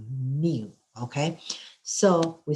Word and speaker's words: mu: And also we said the population mean, we use a Greek letter, we use like a, look like a U, but we pronounce like a mu, okay?